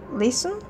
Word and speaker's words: listen: phonetic off of it no one who pronounces the T in listen so you get it